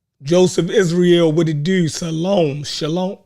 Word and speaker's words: shalom: Shalom. How you say it? It's shalom.